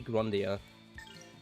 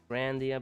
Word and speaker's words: Grandia: I always say Grandia when it's pronounced Grandia.